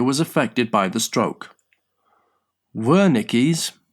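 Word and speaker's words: Wernicke: Worickis pronounced Woricki area is a specialized part of the brain in the left temporal side lobe responsible for language comprehension.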